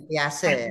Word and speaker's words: Piaget: Ya, tulisannya seperti itu Bapak Ibu, tapi bacanya Piase ya.